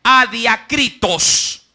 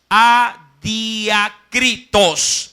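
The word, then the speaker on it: ἀδιάκριτος: Viene de un término griego que se pronuncia adiakritos. Adiakritos.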